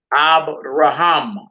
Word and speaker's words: Abraham: So that first word all the way over to the right, accent on the last syllable, Abraham. Who name is that, sis?